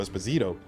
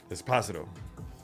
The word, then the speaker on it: Esposito: Because in Spanish, if I'm not mistaken, the second to last syllable of a surname is typically the one with the inflection, so it would be Esposito.